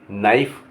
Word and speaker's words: knife: अब जहाँ के साइलेंट होगा वहाँ मैं बताता हूँ। KNIFE यहाँ इसको कहेंगे नाइफ माने चाकू।